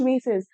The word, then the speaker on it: vases: She had trouble lugging those large vases. Vases भी बोलते हैं, vases is also a correct pronunciation.